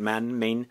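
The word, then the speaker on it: Mane: Main? It's spelled Main, but it's Man, I believe, and that's how they pronounce it.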